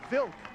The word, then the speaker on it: Vlk: How do you say Jeffrey's last name? That's Jeffrey Vilk. VLK.